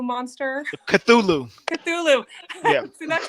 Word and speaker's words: Cthulhu: And so, the whole, I don't even know how to pronounce it, the Chulu monster. Cthulhu.